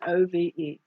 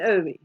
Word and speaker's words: Ove: I'm assuming O-V-E, that it's pronounced Ove.